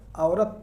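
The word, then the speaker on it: عورت: औरत, औरत यानी हम पढ़ रहे हैं तो वाव हमको क्लियर हो रहा है, और इसका जवाब हो जाएगा ये।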